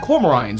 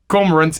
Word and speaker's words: cormorant: It's inspired by petrels, which are closely related to albatross and cormorants, which is what, oh no, hang on, that's not how you say it. Cormorants, it's a good thing you're here.